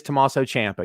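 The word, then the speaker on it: Tommaso Ciampa: and by the way i love you pronounced his name correctly because no one says his name correctly it is tommaso champa you're 100 right so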